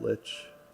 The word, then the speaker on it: lich: Yes, I know some people pronounce it lich. I've always pronounced it like, since long before Adventure Time had a lich.